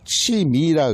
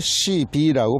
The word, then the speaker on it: 치미: 그걸 뭐라 그러냐면 한국에서 그걸 치미라 그럽니다. 치미. 그런데 일본에서는 발음을 시비라고 발음합니다.